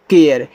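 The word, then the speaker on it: care: सी ए आर ई देखो इसको पढ़ते हैं केयर क्योंकि ए आर ई आपका एयर है तो सी लग जाएगा तो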